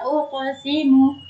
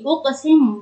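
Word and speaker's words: أُقْسِمُ: Prakteknya coba kita lihat di uqsimu. Kata uqsimu di situ ada qaf sukun, tapi dia berada di tengah-tengah kalimat. Berarti dia dihukumi dengan qalqalah sugro. Cara membacanya yaitu dengan memantul ringan saja.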